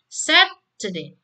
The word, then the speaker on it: Saturday: Kan Saturday ini kan ada dua syllable ya, yang Saturday. Ya ada dua syllable ya, maka syllable awal ini Anda baca lebih panjang ya, seperti itu.